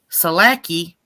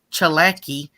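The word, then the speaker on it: Tsalagi: is a blend of Cherokee and Scottish words selecki oh I'm sorry because it's it's pronounced chalaki and kakaliki which is a Scottish soup hey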